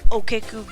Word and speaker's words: Okiku: I don't really know that many combos, but I believe you pronounce his channel name like Okeku Gaming.